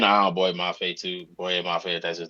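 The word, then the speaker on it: Boye Mafe: Boy Mafe, that's his name.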